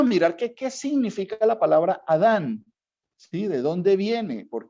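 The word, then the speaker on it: אדם: un propósito es cierto adam viene de una palabra en hebreo que se pronuncia adam que adam y que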